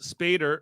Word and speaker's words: Spader: Ultron, as played by James Spader, rhymes with Dave Mader, kind of.